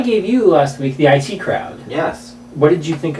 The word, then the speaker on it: IT Crowd: Why isn't it the IT Crowd? I know that they're IT guys, but is it definitely pronounced that way? It's definitely the IT Crowd.